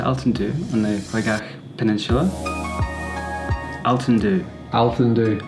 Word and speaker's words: Altandhu: Altandhu. Altandhu. Altandhu, perfect.